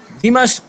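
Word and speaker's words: دمشق: এটার তাহকিক একটু দেখেন দ্বিমাস্ক এটাই সহি সহি উচ্চারণ যেটা এটা দিমাস শহর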